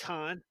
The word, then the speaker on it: Catan: How do you pronounce the Klaus Teuber classic? It is Yes. Catan.